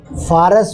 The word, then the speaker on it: فارس: پارس۔ پارس بھی ہے، پارس بھی ہے، فارس بھی ہے، فارس بھی ہے، مختلف تلفظات اس کے، مطلب ہے ایران۔ اور میں کے معنی